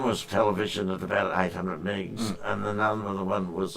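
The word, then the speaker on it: Mie: Me peak is it or my my Well, I say me, you say my name. Okay. Well, I must admit I scattering is actually probably the the correct pronunciation. M I E, isn't it? It's MI. Yeah, it's named after the French. Yeah.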